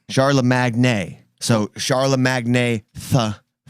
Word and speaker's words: Charlamagne: charlemagne and i i i spell it how i pronounce it charla magni sharla magnay so charla magnay tha